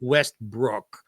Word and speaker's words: Westbrook: I mean, even how he pronounced his name, because it was spelled Wastbrock, but he pronounced it Westbrook because everybody got it wrong anyway.